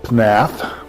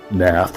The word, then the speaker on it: Pnath: I stuck the Plateau of Leng and the Vale of Pnath, which, or you can say Nath, I guess, but I like to pronounce the P.